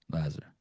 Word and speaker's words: Lazar: Lazar.